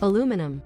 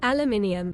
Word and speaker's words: aluminium: Because it's a rare example of a word that's both spelled differently and pronounced differently. Aluminum. Aluminium.